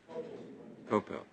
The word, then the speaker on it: Kopel: Am I pronouncing that right, Kopel? Kopel.